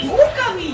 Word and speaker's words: Okami: Okami. Okami. What did you say? Yeah, long O sound.